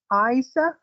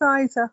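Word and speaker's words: Eiza: should say anything um so you pronounce her name Isa okay well it's spelled EI I Za a how would you pronounce it yeah it's Isa okay there's no l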